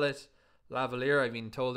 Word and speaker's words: lavalier: i always call it lavalier i mean told the correct pronunciation is lavalier because presumably it's a french word all right now we